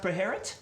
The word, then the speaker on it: Beherit: If you add them, then you have to have Beherit. Is it pronounced Beherit? It is, I got that yeah.